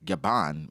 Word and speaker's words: Gabin: Oda reveals it's actually spelled Scapper Gabin, still pronounced like Gaban, as he claims he took the name directly from French actor John Gaben or Gaban.